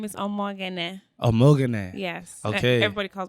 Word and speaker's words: Omoghene: gotta like say it the way it's spelled. Okay. Like soft sounds. So Okay. Omoghene. Omoghene.